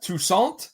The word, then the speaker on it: Toussaint: Our next guest star is Beth Toussaint, I believe is how it's pronounced, as Andrea Todd.